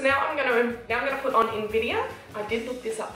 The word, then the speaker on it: Invidia: So now I'm gonna put on Invidia. I did look this up, that is how you pronounce it.